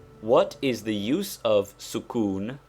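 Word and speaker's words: sukūn: is the use of sukun pronounced sukun that is with the italian oo it denotes the letter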